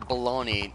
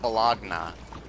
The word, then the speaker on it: bologna: that Mike baloney really how is the word baloney not olagna I mean it's b-o-l -b-a-l-o-g-n-a that's how you spell bologna how is that not balagna I can spell it's